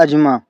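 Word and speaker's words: asthma: देखो वैसे इसको हम लोग अस्थमा बोलते हैं, कॉमन, ठीक है, लेकिन जो रियल प्रोनाउंसिएशन है इसका आप लोग गूगल भी कर सकते हो, डेट इज अजमा, लेकिन हम इसको बोल देते हैं अस्थमा।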